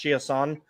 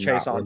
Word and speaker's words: Chiasson: He would pronounce it if he was in a French area of Canada, he would have it pronounced Chiasson, but if he was anywhere else, he would have it pronounced Chason, just like the late Steve Chason.